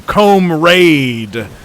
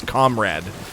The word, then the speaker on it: comrade: calls you comrade but she pronounces it wrong and calls you comb raid every time she talks